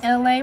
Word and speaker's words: Elay: The she is me, LA, pronounced like LA, like the city.